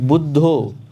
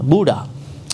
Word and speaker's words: Buddha: pronounce but see for instance some words like budho Western people cannot white people cannot pronounce they say uh Buddha who is Buddha there's no Buddha here but